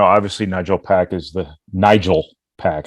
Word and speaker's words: Nigel: nigel pack is the nigel pack i don't know why i said nigel i put the emphasis on the wrong syllable yeah i did that